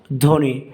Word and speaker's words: ধ্বনি: আলোচনা করছি তো দেখো এক নাম্বারে শব্দের শুরুতে ব ফলা উচ্চারণ হয় না যেমন ধ্বনি এখানে বড় উচ্চারণ হবে না আমরা কি উচ্চারণ করব ধ্বনি তারপরে জ্বর এখানে জ্বর